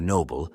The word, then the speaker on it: Nob: act on the battlefield, generally led by a Nob, short for noble but pronounced Nob.